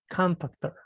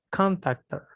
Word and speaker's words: contactor: Contactor. Tiene como el acento en la ON. Contactor. Contactor.